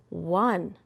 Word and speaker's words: won: My first word is, won. Can you help me say it? Won. Help me spell it.